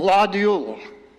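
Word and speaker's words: Glad jul: Gladadio. Well, that is spelled G L A D J U L.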